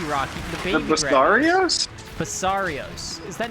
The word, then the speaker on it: Basarios: Basarios. Is that not what I said? No, Is you it said Barrios? Oh yeah, I missed a syllable there, didn't I?